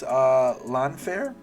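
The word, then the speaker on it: Llanfair: We're just gonna call this lawn fair, or yeah, that's actually the how they call it.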